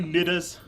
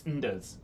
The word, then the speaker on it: Ndas: you, Niddas. That's how it's pronounced, right? No, it's Ndas. Indas. There's no I.